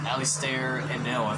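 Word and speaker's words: Alistair Abell: and apparently spidey was voiced by ali star alistair and noah that's how you say his name who remembers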